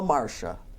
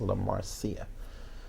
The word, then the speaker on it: La Marcia: is Marsha or La Marsha which is a la Marcia right yeah her name is La Marcia so not Marsha no not Marcia no La Marcia La Marcia McDonald but